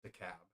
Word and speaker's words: DeKalb: Okay, it's DeKalb.